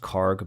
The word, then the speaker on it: Kharg: It could be It could be pronounced In English I think it's pronounced Kharg, but I think in um in Persian or Arabic is is a Kharg Kharg Island. Cuz the KH is a Khh sound.